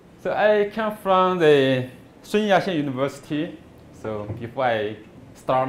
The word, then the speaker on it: Sun Yat-sen: Sun Yat-sen. It's Cantonese. The pronunciation is Cantonese.